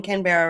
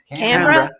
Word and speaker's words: Canberra: Yeah, Canberra. Okay. Canberra. Yeah. I heard you say Canberra the other day, and that works as well.